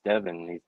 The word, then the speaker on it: Devan: like I I would be like man it's Devin he just couldn't say it and then finally